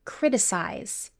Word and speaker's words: criticize: But in English, the ending is unstressed and only has 1 syllable.